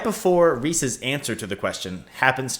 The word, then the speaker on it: Reese's: But in the modern Reese's Puffs commercials, the cereal, they always say Reese's Puffs, which would not rhyme. Reese's. Well, I guess Reese's does rhyme with pieces.